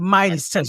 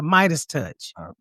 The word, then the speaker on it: MeidasTouch: media's touch is how it's spelled yes the midest touch that's how it's pronounced the Midas touch yeah m d a s touch yeah that's